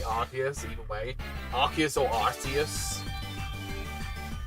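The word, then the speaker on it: Arceus: I I've seen people just use the name, but it's either like Archus or Arus is how people pronounce it, but I mainly go for Archus. I feel that makes the most sense to me.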